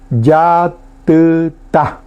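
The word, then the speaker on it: jatyta: Decimos yatita. Caracol, yatita. Bueno, ahí viene una de las variantes para escribir en guaraní, que a lo mejor no acordamos. Yatita. Escribimos con J, la J se pronuncia Y, es su nombre, y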